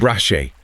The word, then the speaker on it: Rache: Rache.